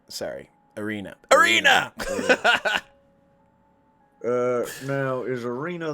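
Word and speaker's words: Ireena: you say that one more time uh erie irina sorry arena arena uh now is arena the one who's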